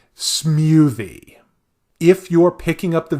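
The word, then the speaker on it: Smewthie: a full j-pop act alongside the show called smoothie if you're picking up the video here because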